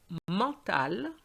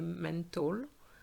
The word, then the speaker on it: mental: Then the word for mental, very important because very often students say mental. Okay, so it's mental, mental, le calcul mental.